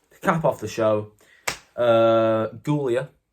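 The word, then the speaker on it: Giulia: the show uh gulia I'm going to call her not Julia gulia CU that's how it's spelled Julia is spelled j u l i a she spelled it g UI l i a so it's gulia gulia and roxan Perez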